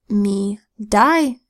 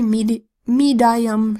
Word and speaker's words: medium: have me, D, Now this I, the rule could also apply that it makes a long I sound because it's an open syllable, in which case you would pronounce it me, die, But does that sound right? Medium? I wear a medium shirt. No, that doesn't sound right. And so we change the sound of I to the long E sound, E. Medium. Sounds much better.